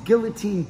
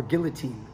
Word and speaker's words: guillotine: know a mount mounted Guillotine defense what do you do or for you guys to get upset with my pronunciation of guillotine it's guillotin or guillotine in English um they want to